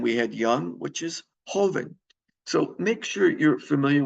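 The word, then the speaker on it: joven: fat what's the opposite delado Grande is large Hoven the JS pronounced like an H is Young all right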